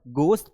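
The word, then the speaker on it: ghost: यहाँ पर गोश्त पढ़ते हैं, एच नहीं पढ़ते हैं।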